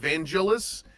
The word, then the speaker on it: Vangelus: I'm like, "Thank you," and then they're like, "Wait, it's pronounced Vangelis?" And I'm like, "Yes."